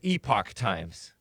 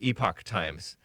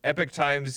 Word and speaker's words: Epoch Times: into the folder pronunciation I thought it was a POC times and if you're British you would pronounce it epoch times but Americans pronounce it epic times I didn't know that but epic times is encouraged it's a sort of